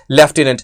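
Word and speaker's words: lieutenant: यह होता है ल्यूटिनेंट और इसको हम डिलीवर करते हैं लेफ्टिनेंट।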